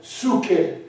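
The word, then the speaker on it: ψυχή: 이 혼도 이 헬라어로 푸수케라 그래요. 피자를 살짝 발음해요. 수케.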